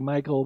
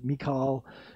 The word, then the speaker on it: Michal: Looks like Michael, but it was Michal.